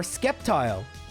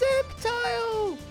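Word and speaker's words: Sceptile: Or Skeptile, it's pronounced Septile.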